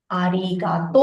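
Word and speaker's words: ありがとう: Here also the pronunciation will be arigato. O sound only will be like oto sound. We will put u in the spelling, but we will pronounce it with o ending.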